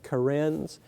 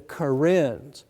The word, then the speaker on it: Karen: Kens k a NS Karens uh you would pronounce that probably with a different accent when you saw it in print the kin now the kin are